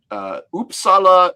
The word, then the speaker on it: Uppsala: In last year in Uppsala University in Sweden. Is that how you pronounce it?